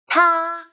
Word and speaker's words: 他: I will teach you how to pronounce it, how to write it, and how to use it. Ta, ta, ta, a, ta.